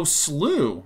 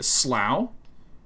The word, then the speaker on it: slough: really excited s-l-o-u-g-h and how's that pronounced oh sloo all right great oh slow is the second pronunciation but it doesn't actually have a uh the ability to play that yeah slew and then we have